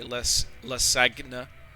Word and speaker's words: lasagna: How do you pronounce the G in lasagna? Oh, yeah, so I suppose it's silent. Though I've heard some people say lasagna.